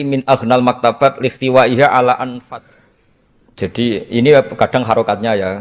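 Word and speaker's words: أنفس: saja di sini ditulis anfusil Kutub. Kalau saya baca anfasil kutub karena maknanya kitab ter baik. Kalau kitab terbaik bacanya bukan anfus tapi apa? Anfas.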